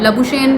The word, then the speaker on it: Labuschagne: लबुशेन अ वैसे तो इनकी जो ओरिजिनल नेम प्रोनाउंसिएशन है वो लबुज़ कैगने समथिंग इस तरह से आए। लेकिन सब लबुशेन दिलाते हैं।